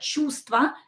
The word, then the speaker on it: чувство: So we just have to write it, but we don't pronounce it. Just memorize that чувство, a feeling, is with V here in the middle.